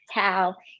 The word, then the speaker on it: Tao: and first name is tao it's pronounced like towel without the world pretty